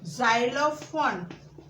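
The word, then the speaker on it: xylophone: अब जब हम वो प्रोनाउंस करेंगे ज, ज़ेरॉक्स, ज़ेरॉक्स, फिर क्या है? ज़ाइलोफोन।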